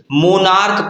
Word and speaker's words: monarch: यहाँ देखिए MONARCH, मोनार्क पढ़ा जाता है, ये का, इसका प्रोनाउंसिएशन क्या निकलता है? का निकलता है।